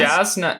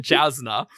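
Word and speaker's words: Jasnah: Yasna. Yasna. Sorry. There you go. You got it. This is a preview seems for the to- pronunciation podcast where Matt continually says Jasna.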